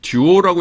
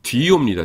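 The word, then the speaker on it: δύο: 듀오라고 읽으시면 안 되고요. 어 아셔 아시겠죠? 위실론이니까 뒤오입니다. 뒤오. 어 둘이란 뜻이고 그죠?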